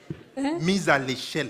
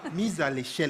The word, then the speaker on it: mise à l'échelle: Mise à l'échelle. Mise à l'échelle. Thank you so much. The way now you need to pronounce it is different. You know? Mise à l'échelle.